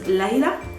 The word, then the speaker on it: Layla: The Arabic way to pronounce this name is Layla, Layla, Layla, Layla.